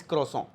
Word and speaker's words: croissant: Next word हमारे पास है, ये वर्ड आप सब ने सुना है, दैट इज क्रोसों। इसकी स्पेलिंग भी आपको याद करनी है, दैट इज CROISSANT, क्रोसों।